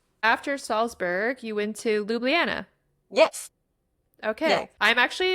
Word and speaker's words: Ljubljana: After Salzburg, you went to Ljubljana.